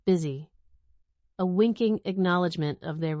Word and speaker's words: BSY: The ticker symbol they chose, BSY, pronounced busy, a winking acknowledgement of